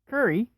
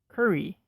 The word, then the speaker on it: curry: the food that's it curry like pizza has two syllables the first syllable is pronounced kerr as in curtain the last syllable is pronounced re as in restart curry and the final word